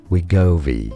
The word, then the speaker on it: Wegovy: How do you pronounce that? Wegovy. Oh, Wegovy.